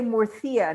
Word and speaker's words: Murcia: This is from, Jorge, would you say Murcia, not Murcia, correct? Murcia, would you, TH? Well, in Peru, we would say Murcia, but in Spain, they say Murcia. Yes, we don't pronounce it like the Spaniards do, but it's actually It's Murcia.